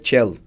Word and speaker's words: Celo: E ali naquele período ali da Itália ali, Cello também, porque C-E-L-O, e se pronuncia Cello, talvez, mas Cello.